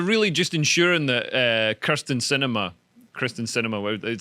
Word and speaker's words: Sinema: And then they're really just ensuring that Kristen Sinema, it sounds like a sort of. I've heard it pronounced both ways. Yeah, it sounds like a world cinema season at Yes. an art theater.